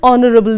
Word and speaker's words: honorable: Honorable, again H is silent.